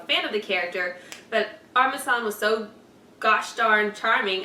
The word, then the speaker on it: Armisen: Fred Armistad. It doesn't Armisen.